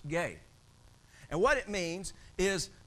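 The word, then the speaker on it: γῆ: Earth is the word gay and it's spelled GE but it's pronounced gay and what it means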